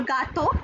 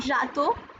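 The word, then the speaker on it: gâteau: G for gato. This is not jato.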